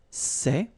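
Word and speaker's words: ces: the plural form so masculine plural it would be say okay and then feminine plural good news it's the same so we've got one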